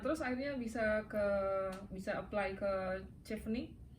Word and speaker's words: Chevening: Padahal dia cara pronounce-nya itu dari C sama H itu Jadi C kan, Chef. C dan evening. Jadi chevening gitu. Chevening. Jadi bukan dari chef ya, tapi dari CH dan evening.